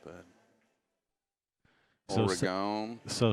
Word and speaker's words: Oregon: It's like oregano, but just no O. So Oregano Oregon. without the O. Oregon.